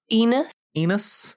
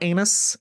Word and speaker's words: Enos: Enos, not anus.